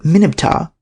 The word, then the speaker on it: Mer-neb-ptah: It was pronounced Minibptah, the R being dropped in early times.